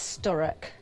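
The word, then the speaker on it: Sturock: funny story you know when people get your name wrong and you get well my surname is sturk s t u r o c k I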